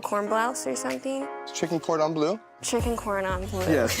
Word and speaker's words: cordon bleu: And then the chicken cordon bleu. I don't know, am I saying it right? How do you say You it? said it perfect. Chicken cordon bleu.